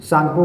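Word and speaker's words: Tsangpo: के बीच में सिंधु सांगपो सांगपो में जो स्पेलिंग होगा टी से होता है सिंधु सांपो सचर जोन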